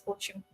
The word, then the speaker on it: ótimo: It spells at OTIMO, but yeah, it's pronounced as ótimo.